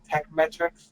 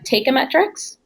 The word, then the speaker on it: Teikametrics: pronouncing abide by the tech metrics it's a take a metrics so take up because the Japanese word for price and the metrics is just vetrix so the price metrics it's a little bit